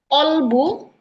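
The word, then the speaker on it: قلب: Bahkan ada kalimat contohnya kalimat em qolbu qolbu dan kalbu qolb. Nah, kalau qolbu itu bacanya pakai qof ya. Qolbu itu artinya hati. Kalau kalbu pakai kaf itu kalbu itu artinya maaf, artinya anjing.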